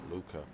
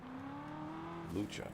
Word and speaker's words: Lucha: It's pronounced Lucha, not Luca. Lucha. Because there's a C and H. If it was just a C, then it would be Luca, but it has a C and H, so it's lucha chop.